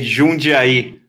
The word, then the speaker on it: Jundiaí: How do you pronounce the name of that city? You say Jundiaí.